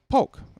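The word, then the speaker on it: Polk: is um indeed uh the pul I guess is the right way to say that right yes exactly uh and pul has been around if you know the name high-end audio pulk make speakers they've been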